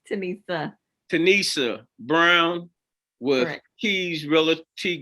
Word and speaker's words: Tenesia: of our real estate businesses on board with tanisha brown give me the correct pronunciation yeah it's okay it's tanissa tanissa brown with keys reality group and uh